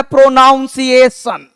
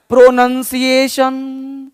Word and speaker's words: pronunciation: बहुत सारे हिंदुस्तान के लोगों को हमने देखा है बोलता है प्रोनाउंसिएशन। अरे बाबले, प्रोनाउंसिएशन नहीं होता है, प्रोनंसिएशन। प्रोनंसिएशन, प्रोनाउंसिएशन नहीं, क्योंकि प्रोनाउंस वर्ड अलग है।